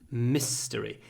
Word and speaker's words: mystery: it remains a mystery mystery here is another word where the I almost disappears mystery mystery lots of more lots of ma a little bit of I and lots of s misery Mist a mystery it remains a mystery